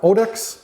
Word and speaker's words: Otix: in next we have otix so as the name States it rhymes with odors so this is an